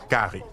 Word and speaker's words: cari: In La Réunion, they visit Creole houses and eat rice, often with a local curry, pronounced gari.